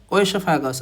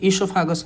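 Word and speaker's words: oesophagus: हैं आपको पता है, ओएसोफेगस और ईसोफेगस हम उसको प्रोनाउंस करते हैं, ठीक है।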